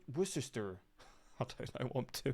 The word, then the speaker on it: Worcester: But Worcester, Massachusetts, with a population of 207,000, pretty much has the same pronunciation. In fact, with this being Massachusetts, many locals even leave off the R like we do in Britain. Worcester.